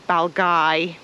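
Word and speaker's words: Balgavies: of the reserve so it's baly Nature Reserve or balay Lo not balavi or balavi we're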